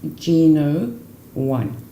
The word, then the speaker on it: Gno1: so that when you put it together is pronounced G no one a Gina and secondly very important this is